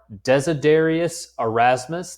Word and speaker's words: Desiderius Erasmus: The best known of these are Desiderius Erasmus.